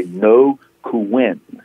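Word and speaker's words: Ngô Quyền: this was led by no who win and I could spell that no is NGO and Kuenn is qu y en okay I got it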